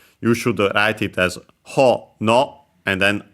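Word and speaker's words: ほのお: should write it as ho, no, and then o, not u, even though the pronunciation is the same. Because, yeah, it's a strictly Japanese word, accent on the first syllable, hono, actually a compound.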